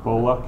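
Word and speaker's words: Kolla: pronounced that uh open Cola k o l l a k o l a yeah so in Boston we would say colar okay would sayic who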